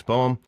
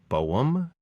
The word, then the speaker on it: Boehm: As far as the pronunciation, it is Boowam. It's old German name that we lost the um lots when uh one